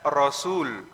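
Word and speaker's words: رسول: dan lam awalnya begitu Kalau sebelum lamnya ada wau itu bacanya Rasul tapi kalau enggak ada wawunya dibaca rusul ahah bedanya dikit tapi maknanya beda Saya ulang kalau ro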